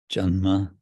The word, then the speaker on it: janma: And Janama means birth, with a little extra syllable, janma, and tā’ra, of him, tā’ra.